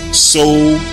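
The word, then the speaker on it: Soudan: S-U-D-A-N is the modern day spelling. However, the antiquity spelling was S-O-U-D-A-N, So-U-Dan, which is simply two words combined into one, So-U-Dan.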